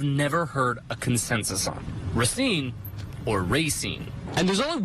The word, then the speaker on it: Racine: What do you say to people who call it Racine? They must be driving fast down Racine on Main Street where we're located. Racine. Like you're racing a car, racing along a track?